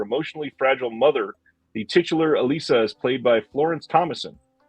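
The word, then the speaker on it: Élisa: this one is from altered innocence and it's pronounced excuse me Alisa from 1995 Vanessa Paradis from knif plus heart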